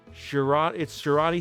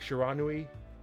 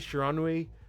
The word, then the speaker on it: Shiranui: Shirani stayed. Kasumi stayed. Kiso stayed, and Abakuma. So that is Akagi, Nachi, Shirani. Or I think it's spelled more like Shiranui. Okay, let me start again. Akagi, Nachi, Shiranui, Kasumi, Kiso, and Abakuma for the 3-1 part.